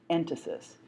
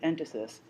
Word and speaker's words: entasis: You'll see the word written, but I'll spell it for you right now. It's called entasis, E-N-T-A-S-I-S.